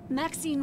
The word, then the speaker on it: Maxine: Maxine rhymes with queen, after You are a all, cat.